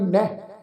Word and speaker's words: नह: नन्ना हाहा इनू उच्चारण करांगे नह।